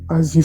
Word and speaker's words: Aziz: Aziz se escreve A-Z-I-Z e Afidal A-F-D-A-L.